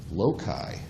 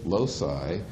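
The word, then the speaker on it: loci: The correct Latin pronunciation is loai. All right. The British say loai. We say losi.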